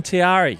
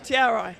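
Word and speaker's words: Te Arai: Is that how you pronounce Anita Mitchell from Tiari? Tiara. Tiara. I got I'm hopeless with these Kiwi pronunciations. Everyone's been saying Tiari. That's what I've always thought. Tiara. Tiara links.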